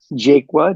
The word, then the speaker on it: Jaqua: you how my last name is pronounced it's pronounced jaqua J A qua I presently am um I